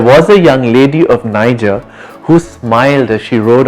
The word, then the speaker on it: Niger: poem niger is pronounced niger and the soft g in niger makes you want to